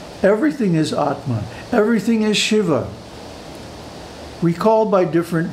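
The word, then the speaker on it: Śivā: on Shakti you notice the last word of this shloka is Shiva with a long a the feminine ending Shiva and Shiva Shiva and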